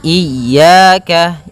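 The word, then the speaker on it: إِيَّاكَ: na'budu wa iyyaka nasta iyaka pada lafal ya ini hati-hati dalam pelafalannya ada dua kesalahan yang sering terjadi yang pertama yaitu dia memanjangkan Iya nah seperti itu harusnya dia ee ditekan dan dilembutkan iyaka iyaka nah kemudian jangan sampai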